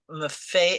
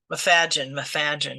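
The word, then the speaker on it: Macfadyen: I mean, it's, I love Matthew Maffei. How did you say his name? Mafadgen.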